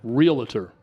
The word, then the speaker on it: realtor: Except he said realtor. He added an I. Find a realtor. L. Find a realtor. He added an extra syllable.